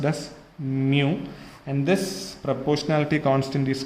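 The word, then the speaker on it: μ: This is nothing but, this is pronounced as mu, and this proportionality constant is called as coefficient of dynamic viscosity.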